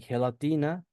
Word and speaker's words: gelatina: And this sound ha is al- also found in g e and g i like in gelatina and in jirafa. Jirafa. It would be gelatina.